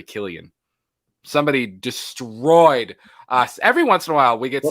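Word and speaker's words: Cillian: have said it wrong i used to say silly and murphy and it's really killian somebody destroyed us every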